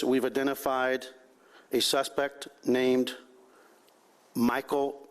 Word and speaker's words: Meechaiel: identified a suspect named Michael uh mik is the way he pronounces it spelled Emma and Mary